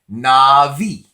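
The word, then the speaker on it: נביא: profit profit would be Navi Navi not some people say now be not be but we're pronouncing the sephardic so that it of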